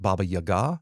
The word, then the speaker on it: Baba Yaga: you that's always the baba yaga also sometimes pronounced more properly pronounced something more like baba yaga so i'm not going